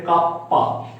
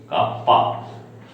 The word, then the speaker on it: kappa: 1 by rho কে বলে কাপ্পা into A by L. Now C সমান হচ্ছে conductance equal to 1 by R, আর এটার উচ্চারণ হচ্ছে কাপ্পা, KAPPA, কাপ্পা।